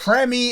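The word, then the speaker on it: preemie: Amanda says premi is how it's pronounced, is short for premature.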